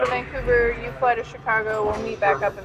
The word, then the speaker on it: Chicago: it sorry yeah so they're pronouncing it Chicago and it's like no no no Chicago so that all these